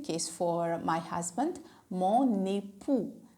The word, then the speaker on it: époux: And the same case for my husband, mon époux. X is at last, that is silent, right? Let's repeat together.